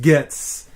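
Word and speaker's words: Goetze: i only use gets i know it's goetz but it's called pronounced gets um dan 213 hooking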